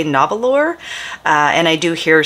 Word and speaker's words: Nahvalur: they assure us that even though it phonetically looks like you would say novel or uh and I do